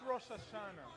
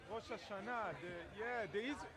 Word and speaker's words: Rosh Hashanah: Not Rosh Hashanah. Rosh Hashanah. The Israeli pronunciation.